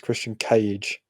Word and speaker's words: Christian Cage: it's not just christian we've been saying his name wrong it's christian cage yes brian's brother let's